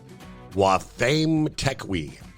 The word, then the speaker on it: Wathame Tekwi: It is pronounced phonetically Wathame Tekwi. Okay? I would have butchered that. Wathame Tekwi.